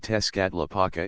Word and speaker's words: Tezcatlipoca: The names of the more important gods are pronounced as follows: Oitzilapoctli equals Huitzilopochtli Tezcatlapaka equals Tezcatlipoca Quetzalcoatl equals Quetzalcoatli Zype equals Xipachalcohuitlicu equals Chalchihuitliquai.